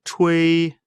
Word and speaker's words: chui: The pronunciation of chui, ch, is pronounced as the ch in the English word Chinese, and wei similar to a in wei.